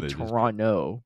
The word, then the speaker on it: Toronto: from Canada from Toronto you say Toronto without the te I have a whole